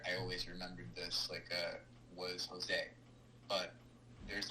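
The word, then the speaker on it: José: I say Josie instead of Jose, and she gets really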